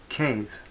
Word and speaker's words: Cedd: And right from the start, Cedd, whose name was probably more likely pronounced like Keith, Cedd, was an evangelist.